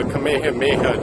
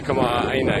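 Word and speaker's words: kamaʻāina: a lot easier also don't say the kameha discount don't call the AA haa discount it's a Kam discount um if you don't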